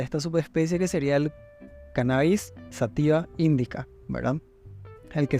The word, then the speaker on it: cannabis: recibe los nombres de cannabis cannabis en realidad con acento en la primera Cannabis pero también tiene variantes